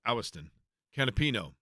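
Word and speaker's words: Agustín Canapino: So once upon a time in IndyCar racing, there was a driver named actually it's pronounced Awiston Canapino, still with Juncos Hollinger Racing.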